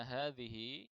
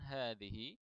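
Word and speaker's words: هذه: Kemudian yang kedua adalah ketika membaca hadhihi, ini haknya adalah hak tanbih dan ini panjang, ya, jadi bacanya dipanjangkan. Man hadhihi? Qalat hadhihi fulanatun.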